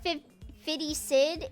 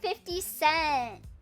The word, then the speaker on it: 50 Cent: It's not Fiddy Sid. It Oh, 50 Cent. Oh, must have seen people that pronounce his name like like Fitty Cent and like misheard it.